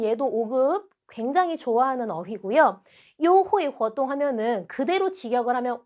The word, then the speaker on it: 优惠: 그 다음 단어는 발음이 优惠 요회라고 읽고요. 이 회는 우리 혜택할 때 해자거든요.